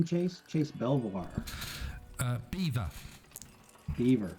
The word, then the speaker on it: Belvoir: Beaver. Beaver. It's Beaver, spelt Belvoir. Which, if you live in the U.S., like Fort Belvoir, when they spell that over here for the castle, it's Beaver Castle.